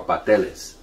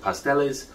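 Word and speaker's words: pasteles: really enjoy making around the holiday season are patellas okay some people pronounce it pastels but it's a very labor labor-intensive process but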